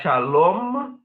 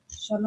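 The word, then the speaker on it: שלום: Então, shalom é shalom, com M marcado no final.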